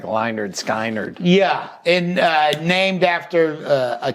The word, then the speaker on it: Lynyrd Skynyrd: it cuz I think it's spelled like ly nerd sky nerd yeah and named after